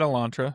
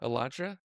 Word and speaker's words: Elantra: I've always said Elantre. Elantra.